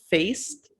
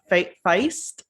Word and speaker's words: Faist: i discovered the actor mike faist feist i think is how you say his last name who plays riff uh